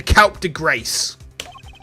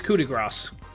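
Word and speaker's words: coup de grâce: Yeah, it's coup de grace. I think, do you just pronounce it like coup de grace? Or would you actually pronounce grass? And you pronounce grass.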